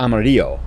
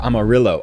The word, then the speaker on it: Amarillo: we're going to Amarillo, or Amarillo, I think is how you say it in Texas. You don't say it the Spanish way, right?